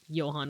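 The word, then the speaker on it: Johann: name Yan right like Johan Sebastian Bach and you know like you know how it's like supposed to be pronounced like Johan with like a y sound I know a Filipino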